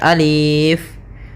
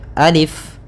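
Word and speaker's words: ألف: Nah, maka ketika kita membacanya, untuk alif ini la yumaddu, tidak dimatkan, tidak dipanjangkan, sehingga jangan dibaca alif, tapi hanya pendek saja, alif.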